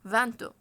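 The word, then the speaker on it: vingt: ده برضو قلناها سيت العدد ف لا ينطق الجي تي وتنطق التي فقط اذا جاء بعدها متحرك او عدد اخر يعني ايه يعني انا فان لوحدها بجي انطقها ما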